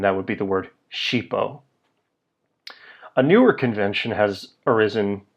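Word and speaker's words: ŝipo: Esperanto letter H so SX IPO would be pronounced cheapo these will do in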